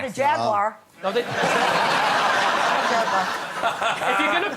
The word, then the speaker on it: Jaguar: roughly no not a Jaguar jagar if you're going to promote them at least learn to say it properly how am I Jaguars three syllables over here yeah you say you're